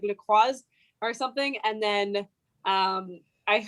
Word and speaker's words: LaCroix: Did they not have LaCroix?